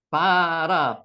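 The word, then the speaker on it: ברא: 끝났으니까 베레시트 초라고 그랬습니다 바라 라라고 읽는게 여기 저 경점 있기 때문에 바라라고 읽겠습니다 바라라고 읽으셔도 상관없습니다라 창조하다 엘로힘 하나님을 뜻하죠 항상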